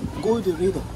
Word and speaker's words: Gorée: Yeah, but in French they pronounce it Goree.